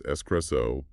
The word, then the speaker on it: espresso: Pronounce espresso as espresso and latte as latte.